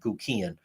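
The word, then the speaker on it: Guckian: family and they, you know, demonstrated how to pronounce his last name, Guian.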